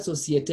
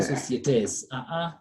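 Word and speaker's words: société: So you see that word societe, even if I add letter S, it is still so societe. You cannot say societes.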